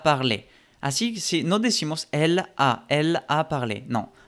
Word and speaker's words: elle a: Así, si no decimos elle a parlé. No. Pegas la L con la A que sigue. Elle a.